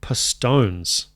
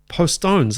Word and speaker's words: Postones: away there it is had the most horrible thought it's j pastones POS pastones I think I was doing the Spanish a Spanish pronunciation for some reason poonis postones isn't it hit me in the